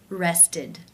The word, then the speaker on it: rested: is case three where the e d is pronounced as the e as in sit with the d sound rested rested how do you